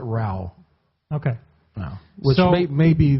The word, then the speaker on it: Ra: just had me answer back, I am Rao. Rao like Ra. Ra, yeah, they pronounce it Rao.